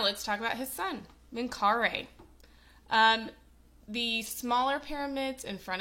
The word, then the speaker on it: Menkaure: So, actually it's pronounced Menkaure apparently.